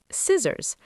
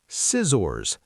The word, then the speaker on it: scissors: Scissors. S c i s o r s. You say scissors. That first c is completely silent.